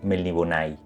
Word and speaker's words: Melniboné: un lugar de Aventuras siempre soñé con melniboné o como pronuncia en inglés melbon todos los otros Aventureros